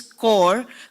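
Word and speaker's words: Cyberpeace: Even though we write it as cos the pronunciation is core. Core like you have the signal core in the army and the radio.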